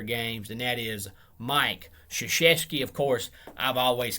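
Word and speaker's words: Krzyzewski: won 1170 career games and that is mike shashesky of course i've always called him mike krazewski because of the way his name is spelled but of course it's polish so it's pronounced shishesky even though it looks like krazewski he's 30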